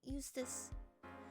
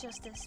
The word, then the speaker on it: Justice: Apollo Eustace. Eustace? Apollo Eustace. And that's justice. Better learn how to say it if you ever want to get some.